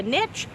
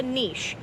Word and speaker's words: niche: you to know that there are two ways to pronounce it depending on where you live it might be called a niche or it might be called a niche either way is correct